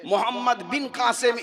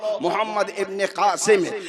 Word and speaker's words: মোহাম্মদ ইবনে কাসেম: মোহাম্মদ বিন কাসেম লেখা আছে। আসলে আমার আসল উচ্চারণ হল মোহাম্মদ ইবনে কাসেম।